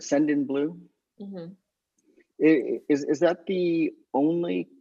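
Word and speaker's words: Sendinblue: Send in Blue.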